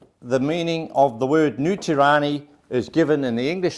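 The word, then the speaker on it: Nu Tireni: It says New Tirani. New Tirani is the Maori pronunciation of New Zealand.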